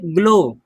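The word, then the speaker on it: glow: इसको पढ़िए, ग्लो, डब्लू को नहीं पढ़ते हैं।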